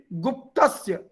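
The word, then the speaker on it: गुप्तस्य: So gu, which is short, that will be pronounced as with stress, or uh, it will be guptasya, because sya is also uh, compound alphabet. So it is followed by again compound alphabets. So you need to emphasize on that one.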